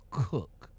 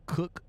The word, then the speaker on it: Koch: And it's pronounced Cook, but the spelling is K-O-C-H. Let's head over to the bit board about Cook.